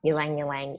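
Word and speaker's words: ylang-ylang: The next one is ylang ylang. Is that the correct pronunciation? Ylang ylang, yes. Yes.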